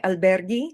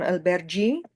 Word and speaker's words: alberghi: All right, and we ask perché alberghi, non albergi. So albergo, alberghi. So the reason we have this H in there is to maintain the sound. Go here, gi here. So we want to maintain that hard G sound, g, g, g.